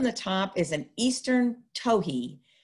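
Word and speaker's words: towhee: top is an eastern tohi so we say toei it's sort of what it's the sound it makes and it's spelled t-o-w-h-e-e toki but they are very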